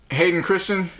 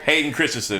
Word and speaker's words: Hayden Christensen: Hayden Christian? Oh yeah, your boy. Yeah. Oh, your boy. Hey, your boy. Did I say his name right? Hayden Christensen.